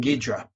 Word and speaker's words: Ghidorah: my brain so yeah it's King Ghidorah or they they the alternate pronunciation is king Dedra so John so what's